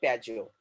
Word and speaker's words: Piaggio: That is not Pago. That is what Piaggio.